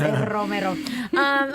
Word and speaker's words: Romero: It's you gotta roll. You gotta roll your R's. Romero.